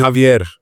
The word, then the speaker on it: Javier: Do you want to Javier? Would you say it? Javier. Do you pronounce the Javier? Javier. Roll the R.